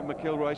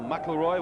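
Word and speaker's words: McIlroy: Now the Jimmy McKillroy stand or Mroy whichever way you wish to pronounce it as Reading come forward.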